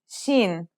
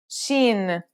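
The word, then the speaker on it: شين: This one is pronounced just like the English sh in the word shovel.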